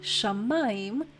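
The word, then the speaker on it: שָׁמַיִם: word for water and if we add the Shu at the beginning we have shamaim which means heaven or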